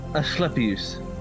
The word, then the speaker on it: Asclepius: Asclepius.